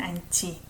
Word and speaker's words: 않지: 지금 우리 뛰지는 않지. There is comma. Think of it that way. 품위를 지켜. 지금 우리 뛰지는 않지. I pronounce it as CH. 않지. Right? I don't pronounce H here.